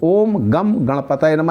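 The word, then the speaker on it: ॐ गं गणपतये नमः: जप करना चालू करिए ओम गम गणपतए नमः यह शुद्ध उच्चारण है इसी का आपको जप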